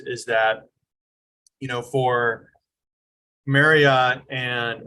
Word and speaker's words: Marriott: that you know for Marriott and or Marriott I'm supposed to say but Marriott is how every how the whole English rule pronounces it um and Hilton you